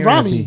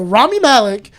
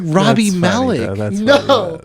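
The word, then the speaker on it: Rami Malek: Ramy. My brain's broken. Yeah, I've been saying Ramy. Okay. Ramy Melon. Yeah. So Rammy Malik plays I like how you were saying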